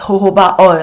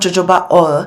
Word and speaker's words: jojoba: I added in a tablespoon this all is pronounced as jojoba oil not jojoba oil moving on to our fourth ingredient I have